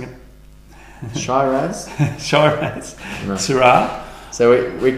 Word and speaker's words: Shiraz: now we're going to look at a couple of different Shirazes, or is that how am I pronouncing it? Shiraz. Shiraz. No. Shiraz. So we call it Shiraz.